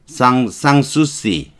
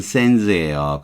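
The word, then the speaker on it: Sans-Souci: 쌍수시 이게 쌍이 불어로 발음하면은 S는 발음을 안 해요. 페리스, 파리 발음하는 거 아시죠? 페리스, 파리, 바히 이렇게 발음하죠. 이 미국식으로 발음하면 이건 샌즈예요.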